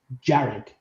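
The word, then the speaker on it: Dearg: and they played now it's spelled D E A R G but it's pronounced Jared and it's called Jared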